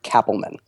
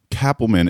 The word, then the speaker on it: Kapelman: to do this but it's actually pronounced Cappleman ah no that's good Cappleman is good because I